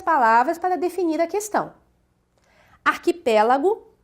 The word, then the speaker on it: arquipélago: Analisando a questão aqui, o arquipélago, nós vemos que é uma palavra proparoxítona, pois a sílaba tônica está na antepenúltima sílaba.